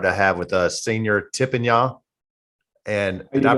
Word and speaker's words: Thippanya: We're honored to have with us Senior Thippanya. And did I pronounce that right, brother? That is correct. Thippanya.